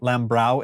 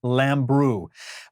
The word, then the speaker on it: Lambrou: I've mispronounced it Lambrou in the past, but I asked him about it at the San Francisco show in 2017, and he got me corrected. So it is Lambrou.